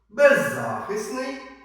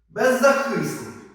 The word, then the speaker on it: беззахисний: Запам'ятайте слова з подвійним наголосом. Бажаний, бажаний, беззахисний, беззахисний, зокрема, зокрема доповідач, доповідач, допоміжний допоміжний весняний.